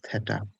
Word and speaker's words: theta: Theta. Let me see if I can write. Yeah, that's how it's written, okay? It's pronounced theta.